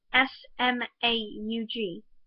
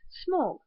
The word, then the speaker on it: Smaug: In the book, it is written S-M-A-U-G, which, when you read it, sounds like it should be pronounced Smaug, not Smaug.